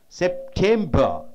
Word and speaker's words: September: August, September. Three syllable means the center syllable should be stressed.